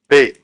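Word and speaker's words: 米: We use the character for rice, which is pronounced Bei, and we use that Beikoku or rice country.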